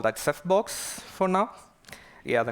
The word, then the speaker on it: CephBox: We call that CephBox for now. Yeah, the name is quite obvious, right? You know, a Ceph cluster in a small box, and it rhymes with Dropbox.